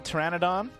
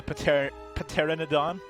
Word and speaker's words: pteranodon: So after this Pathfinder is gone, we got the pteranodon or as you would say, the pet paternodon. Yeah, there you go. Now you're saying it right. I can't I can barely even say it the way you say it cuz it's so wrong.